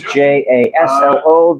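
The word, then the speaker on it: Jasło: The CZ in Polish is usually pronounced ch, and Jaslo is JASLO. The J is usually pronounced as a y. So it's Czarni Jaslo.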